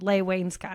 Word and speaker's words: Leigh Wainscott: Leigh Wainscott.